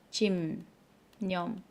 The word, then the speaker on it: 집념: 근데 비읍이 니음 만나서 자, 비읍이 니음 만나서 어떻게 바뀌어? 짐 념.